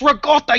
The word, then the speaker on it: ricotta: way rot there's a there's Itali way to say ricotta cheese it's rotta you son of a